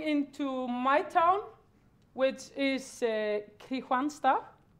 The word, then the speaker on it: Kristianstad: going into my town, which is Kristianstad, how we pronounce it.